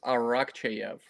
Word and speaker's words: Arakcheyev: you doing I'm doing great last name is arak chv I know it's not the easiest to pronounce okay that's cool that's awesome if our